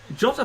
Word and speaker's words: Jota: Jota, I should say Jota because the Portuguese pronunciation is Jota.